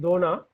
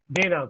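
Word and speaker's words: देना: Koduttal. To give. Not Dona. Puchna, Jinashri is right. Dona slightly you have to change Anuradha. Dena, correct.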